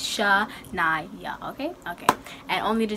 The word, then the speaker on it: Shanya: Like, people pronounce it Shanya, but it's actually Shanya. So when you see the name down below, it's not Shanya, it's Shanya.